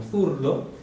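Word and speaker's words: zurdo: poeira e surdo que apesar de escrever com z a gente viu que o z tem um som de c Então vai ser pronunciado como furdo não tem nada a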